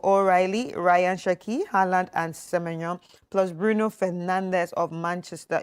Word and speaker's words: Semenyo: Semenyo. It's how they pronounce his name first.